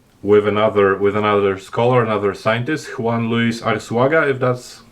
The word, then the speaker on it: Juan Luis Arsuaga: suggestions put forward with another scholar, another scientist, Juan Luis Arsuaga, if that's how I pronounce it.